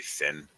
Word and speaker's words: Sin: As you can just say Sin. Because Sin, otherwise you have to pronounce Korean.